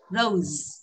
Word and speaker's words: rose: Bông hoa hồng thì chúng ta không đọc là râu không, cũng không rose, không phải xì ạ, mà Z này, rose.